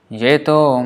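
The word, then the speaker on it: যে: Jeto mara sharana loy taravancha purna hoy kripa kori koro tare Vrindavan vasi. So Jeto mara sharana loy, whoever, tomara, ye means who. In Bengali is pronounced as je, Jetomara Sharanaloy.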